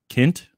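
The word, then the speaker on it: Kindt: hear this but i'm trying to hear a pronunciation of it kent okay all right so matt kent that's that's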